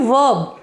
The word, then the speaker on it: verb: देखिए, इसकी स्पेलिंग क्या है, VERB, लेकिन मैं आर को थोड़ा सा साइलेंट रखते हुए बोल रही हूँ, वर्ब, ठीक है।